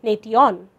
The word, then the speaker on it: nation: We do not divide the T-I-O-N to say nation. The shun in this word gives us the consonant sound sh, which is the same sound as in the word shine, although nation is not spelled with sh.